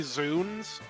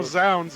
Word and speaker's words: zounds: It probably was originally Zunes, but then it got written down, and people have started pronouncing it the way it looks. So Also- now Zounds is also acceptable.